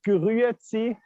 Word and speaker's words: Grüezi: It's called Grüezi. It's difficult to pronounce if you're not Swiss German, but Grüezi.